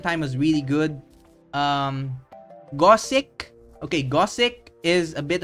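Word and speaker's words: Gosick: which was good um it's spelled as God sick okay like go sick like literal go get sick spelled us that um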